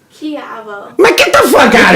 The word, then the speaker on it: Kujawa: How would you say Kugwa. Yeah, Kugwa. Kugwa? Kujawa. AWA? Kugwa. It's pronounced Kiavo.